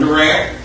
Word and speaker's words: Durant: you so I'm from Durant how you pronounce that word will tell your age the older you are the heavier you are on the D and so it it